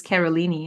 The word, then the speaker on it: Carolini: herself um and so in Portuguese originally how you would say my name is kolini and I was like